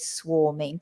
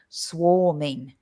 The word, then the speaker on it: swarming: The pronunciation we have to watch as well with swarming. Even though it's written with an A, the pronunciation is O, swarming, not swarming, swarming.